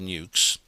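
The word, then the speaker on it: nucs: them that is um n-u-c-s is how it's spelled but it's pronounced nukes Maritime nuclear power very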